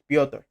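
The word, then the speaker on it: Petr: It's Peter Yan, Piotr. But Piotr Yan should win this fight. I'm gonna go Piotr Yan by decision.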